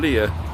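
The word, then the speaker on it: Lier: We're in Leah, which is spelled liar, which is what my Google map said.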